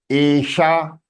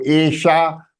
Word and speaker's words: एषा: एषः. स्त्रीलिंगे एषा. एषा श. शा मूर्धन्य श. तो एषा. Don't say एषा. If you say एषा, then the pronunciation is wrong, isn't it?